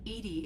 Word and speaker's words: EDI: are you named edie edie is the phonetic pronunciation of edi that is an acronym for enhanced defense intelligence okay your location where